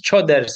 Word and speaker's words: Coders: Basically, it's choders, but yeah, coders basically.